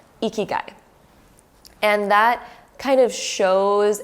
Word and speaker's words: Ikigai: There is actually a Japanese philosophy called Ikigai, and how you spell that is Ikigai, Ikigai.